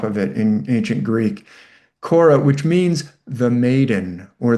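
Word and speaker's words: Kore: know, children's book but her name is also Cora or Oh. It's k o r e with a little kind of um upside down v on top of it in ancient Greek. Cora which means the maiden or the virgin.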